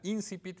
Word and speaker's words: Incipit: Bueno, y tenemos también por una cortesía de sí misma ejemplares de la revista Incipit, y ahora sí lo pronuncio con el acento correcto, no que luego se me olvida.